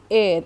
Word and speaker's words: heir: Now the words with silent h, like hour, HOUR, air, HEIR, herb or honor.